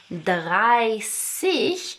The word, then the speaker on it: dreißig: with the exception of dreißig, which has the ß that makes an S sound, all the rest of these numbers are ending with 'zig'.